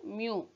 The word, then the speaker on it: mu: Symbol is mu. This is mu. Pronunciation mu.